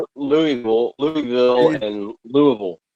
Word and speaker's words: Louisville: Louisville, Louisville, and Louisville. It's Louisville. Louisville.